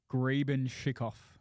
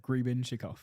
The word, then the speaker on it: Grebenshikoff: Grebenshikoff. That's exactly how it's said. Grebenshikoff.